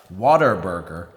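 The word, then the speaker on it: Whataburger: place you can see it's spelled like what a burger like oh what a burger but in Texas they pronounce it Like Water Burger and if you say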